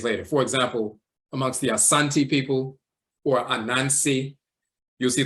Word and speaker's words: Asante: the ti Asante with some will pronounce it Ashanti but it's really Asante so you'll see varying